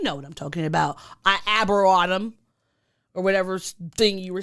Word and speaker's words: Arboretum: That word just doesn't seem like it's pronounced there. There's a T there. Arboretum.